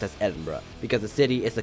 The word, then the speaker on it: Edinburgh: Yes, it is pronounced as Edinburgh because the city is the capital of Scotland.